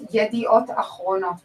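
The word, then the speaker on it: Yedioth Ahronoth: It's Yediot Achronot, by the way.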